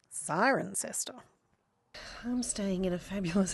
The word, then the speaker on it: Cirencester: It's pronounced Cirencester.